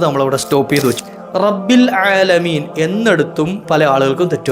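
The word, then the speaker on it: رب: പല ആളുകൾക്കും തെറ്റ് വരാറുണ്ട് ഈ റബ്ബ് എന്നുള്ള പദത്തില റ കഴിഞ്ഞ രണ്ടു ബാ ഉണ്ട് യഥാർത്ഥത്തിൽ ബബ് എന്നാണ് യഥാർത്ഥത്തിൽ അപ് ഞാൻ ശദ്് കൊടുത്തപ്പോ എന്താക്കി റബ്ബ് എന്ന ഒറ്റ വാക്കാണ് ആറ അല്ല മറിച്ച് അറബി ഭാഷ ആകുമ്പോൾ ഒരല്പം ഘനം ഉള്ള അക്ഷരമാണ് റ എന്നുള്ളത് ഒരല്പം ഒരരു മുഴക്ക അസ്സലാമു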